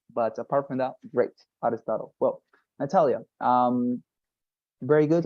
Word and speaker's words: Aristotle: and second thing for all of you the pronunciation of the word Aristotle uh Aristotle yeah it was it is difficult I I know Aristotle but nonetheless you know when you refer to